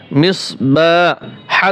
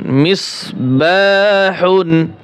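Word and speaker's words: مصباح: ছোট হা, আমরা বাতাস ছেড়ে দেব পাতলা করে, মিসবাহ।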